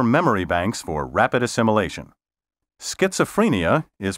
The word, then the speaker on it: schizophrenia: banks for Rapid assimilation schizophrenia is properly pronounced schizophrenia not schizophrenia the accent properly should